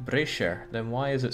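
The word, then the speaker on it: Brescia: now it's not like I'm colonizing bruh skies pronounced Brasher then why is it spelled brass kya checkmate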